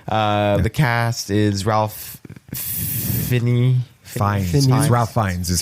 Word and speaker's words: Fiennes: Fiennes. Ralph Fiennes is how you pronounce Phineas. that. It's not Phineas.